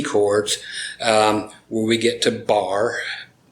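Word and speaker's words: barre: where we get to bar a finger across b-a-r-r-e is how it's spelled meaning one finger is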